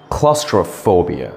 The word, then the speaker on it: claustrophobia: I'm sorry, that's the wrong pronunciation. The correct pronunciation is claustrophobia.